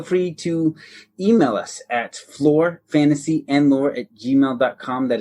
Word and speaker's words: Flore: you spell that aaron that's lore with an f at the beginning so it sounds like floor but it's not the floor you're thinking because it's our floor